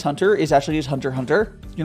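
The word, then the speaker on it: Hunter × Hunter: like a Hunter x Hunter is actually his Hunter Hunter you're not actually supposed to pronounce specs a lot of those Japanese names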